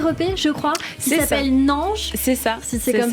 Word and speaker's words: Naange: Elle fait partie de votre premier EP, je crois, qui s'appelle Nange. C'est ça. Si c'est comme ça que ça se prononce.